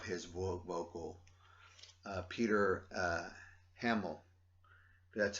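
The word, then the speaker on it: Hammill: and i love his vocal uh peter uh hamill that's how you say his name this album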